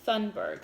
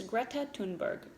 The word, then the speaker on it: Thunberg: girl named greta tunberg it's spelled like thunberg so some people say it that way but i believe it's greta tunberg when greta was not